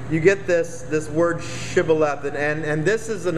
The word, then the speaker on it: shibboleth: would say to him say shibala but he said sibilath for you cannot pronounce it correctly and so you you get this this word shibboleth and and this is